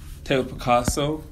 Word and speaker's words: Tao Piccasso: And, you know, Tao Piccasso, am I pronouncing that right?